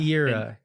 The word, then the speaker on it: Era: growing up is it era is that what you're town is called it's a long e um era era era I I don't know